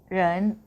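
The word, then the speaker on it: 人: ตัว นี้ นะ คะ ออก เสียง ว่า เร เรน เร นะ คะ ก็ คือ แปล ว่า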